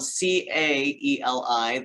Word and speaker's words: Caeli: It is pronounced Caeli, like Haley with the C. So I tell people the association is Haley's Comet. Just put a C in front of Haley and you got it.